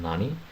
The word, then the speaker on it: 何: The Japanese question word for what has two pronunciations, nan and nani. Nan is used immediately before desu or before a count, like the other form nani is used before a particle. Nani is used before the particle.